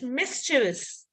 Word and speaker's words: mischievous: There is no silent letter, but we are inserting an I after V, which should not be there. So no I in Vs, right? It's not Vs. So there's no I. It's just mischievous.